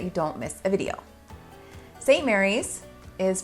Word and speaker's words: St Maries: don't miss a video St Mary's is pronounced St Mary's not St Marie and this is a